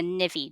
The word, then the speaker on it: Nivi: drape your sari i always drape using a nivvy drape so n-i-v-i is how it's spelled and the navy drape actually did originate in andhra pradesh so